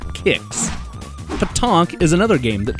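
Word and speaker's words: Qix: role playing games entirely I see people say Quicks a lot that's wrong it's actually pronounced kicks Paton is another game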